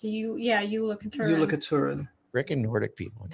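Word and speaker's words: Jólakötturinn: It's Yola Katurin. It's Icelandic. It's spelled with a J, but we had to look it up. It's pronounced Yola Katurin.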